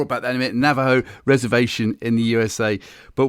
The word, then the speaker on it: Navajo: pronunciations or pronunciations incorrectly navio is that right Navaho it's actually Navajo oh sorry more about that in a minut Navajo reservation in the USA